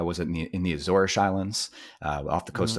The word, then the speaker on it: Azores: looks like it's spelled Azores. Uh technically it's pronounced Azores, which in Portuguese you would say Azorish. They say ish for their s's.